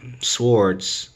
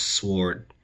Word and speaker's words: sword: have an eight of swords or eight of swords like one of my one of my watches told me I pronounced sward the wrong way supposed to be sword and that is true